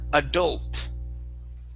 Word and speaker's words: adult: The stress is at the end of the word.